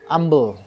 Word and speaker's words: umbel: Ketika anjing menjilat bejana, tetibanya dia batuk-batuk, keluar dari mulutnya ambel. Kan tulisannya umbel. Bacanya ambel.